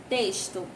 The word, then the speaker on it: texto: Próximo, texto. Essas são palavras que são escritas com a letra X, porém, quando pronunciadas, tem um som de S, certo?